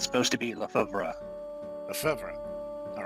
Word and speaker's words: Lefebvre: I have the pronunciation if you want to hear it. Yes, please. It's supposed to be Lefebvre.